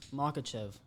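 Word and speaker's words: Makhachev: I can't pronounce his name. What's his name? Makachev.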